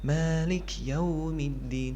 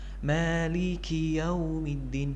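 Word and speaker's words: مالك: Yang pertama kali harus kita perhatikan di sini adalah kaf yang dikasrahkan. Jangan sampai kita membacanya seolah-olah seperti kaf yang disukunkan atau kurang jelas gitu. Malik Yaumiddin, jangan sampai seperti itu karena kaf di sini harus dibaca dengan jelas. Maliki Yaumiddin, Maliki, ada ki-nya itu harus jelas.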